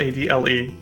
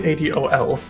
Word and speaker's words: Adol: whole voice acting C calls him adal adle when it's definitely adol the fire jewel is